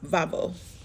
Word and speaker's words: Baubo: so this is a sculpture of the Goddess babo which in Greek is pronounced vabo what does vavo sound like sounds like this